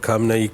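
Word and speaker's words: ഖാംനഈ: ട്രമ്പിന്റെ മുന്നറിയിപ്പ് എന്നാണ് അവർ കാംനാ ഇ എന്നാണ് എഴുതുന്നത് അതിന്റെ ഉച്ചാരണം കാംനായി കീഴടങ്ങണം എന്നുള്ള ട്രമ്പിന്റെ വാദം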